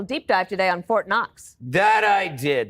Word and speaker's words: Knox: You did a little deep dive today on Fort Knox. That I did. The interesting thing about Fort Knox is that the K is silent.